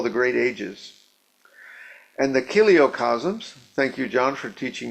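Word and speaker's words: chiliocosms: And the kiliocasms, thank you, John, for teaching me how to pronounce this.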